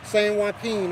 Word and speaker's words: San Joaquin: Did I pronounce that right if I said that wrong? San Joaquin? San Joaquin.